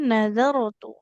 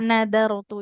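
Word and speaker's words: نَذَرْتُ: Nazarotu, tidak nadarotu ya. Kalau dal kan ujung lidahnya ke pangkal gigi seri yang atas.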